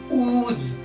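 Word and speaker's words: who: silent होता है मतलब डब्लू के बाद भी अगर एच आएगा तो एच साइलेंट होगा हम कुछ एग्जांपल जैसे लेते हैं एमपाल जैसे उज इसको हुज नहीं उज पढ़ेंगे बहुत से लोग क्या पढ़ते हैं जज पढ़ते हैं इसको ना कि हु पढ़कर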